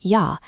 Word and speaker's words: jag: "Jag" is pronounced "ya" and "hej" is pronounced "hey".